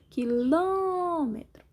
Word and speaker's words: quilômetro: Quilômetro. Sílaba mais forte é o Ló, som fechado, acento circunflexo.